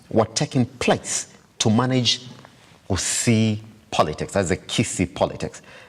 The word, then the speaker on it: Gusii: taking place to manage Gusii politics, that's the Kisii politics. You want to say right, you say Gusii politics. That's how you say it.